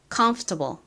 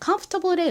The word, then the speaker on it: comfortable: 그리고이 컴 부분은 힘을 주어서 강세를 넣어서 발음해 주시고요. 해 볼게요. comfortable. 한 번 더 해 볼게요. comfortable. 좋습니다. comfortable의 의미가 뭘까요?